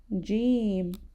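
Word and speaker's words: ج: And the sound is very similar to the words that we find starting with the letter J. For example, jam, jam, or jar. So the letter Jim shares similar sound to the letter J in English.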